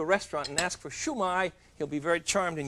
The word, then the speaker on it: shumai: And it's pronounced downhill. Chinese always goes downhill. Dada tada. So it's not shumai. And it's not shumi. It's shumai. Shumi. When you go into a restaurant and ask for shumai, he'll be very charmed